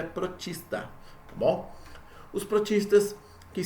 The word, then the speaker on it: protista: Ou também protoctista, muitas vezes se escreve, mas a forma correta de se ler é protista.